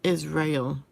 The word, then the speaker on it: Israel: self-righteousness listen Israel but some people pronounce it Israel but I think it's Israel today you are about to